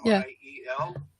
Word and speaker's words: Miel: in the recording for Miel, I think is how it's pronounced, M-I-E-L. Miel, yeah. So, Miel, okay, all right.